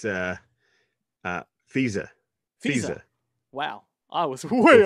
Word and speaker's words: Fehse: Is that how you pronounce his name? Marc Fehse? I believe he said it's Fehse.